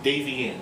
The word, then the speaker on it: Davey Ann: We have Mischief versus a newcomer, Davey Ann. Davey Ann, that's how you pronounce it.